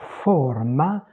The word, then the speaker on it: forma: La forma, c'est fermé en italien. Donc, je répète, je me corrige. La forme, c'est ouvert en français. La forma, c'est fermé en italien.